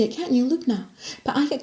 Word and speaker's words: Lubna: But they can't say it, it's only 2 syllables. You can say it, can't you, Lubna? But I get called all sorts of things. Linda, Lubina, nosy cow.